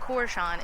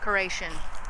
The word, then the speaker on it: Koreshan: And it's not Koreshan, it is Koreshan. I was saying it wrong the whole time.